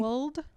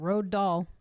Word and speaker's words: Roald: I looked up how to say his name correctly. Rowald. Roald. Roald Doll. Yeah, you better believe I've been calling him Road Doll. I used to call him Rald Doll.